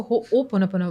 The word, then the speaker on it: Ho'oponopono: होपोनोपो, इसको क्या प्रोनाउंस क्या करते हैं? मैं हमेशा फनी लगता है थोड़ा सा वर्ड ये। मैं आपको बताना चाहूँगी हाँ, कि इसको होओपोनोपोनो बोलते हैं।